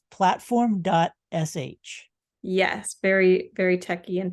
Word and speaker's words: Platform.sh: all like Tumblr but it's not platformish it's platform dot sh yes very very techy